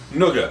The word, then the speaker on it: nougat: Nougat. Is it nugget or nougat?